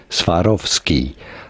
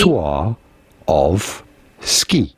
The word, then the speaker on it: Swarovski: in 1895 by Daniel Swarovski. How do you go about pronouncing it in English? Swarovski. Swarovski. Swarovski. Swar of ski.